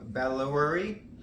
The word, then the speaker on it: Bandoulière: So this is the Keepall Bandoulière. That's how they pronounce it.